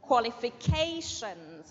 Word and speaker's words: qualifications: the a that's right qualifications and remember it's qu not C or C qualifications qualifications the next